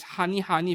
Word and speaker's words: Honey Honey: That is actually square. Honey square. They are and that is pronounced as Honey Honey from what I'm aware of.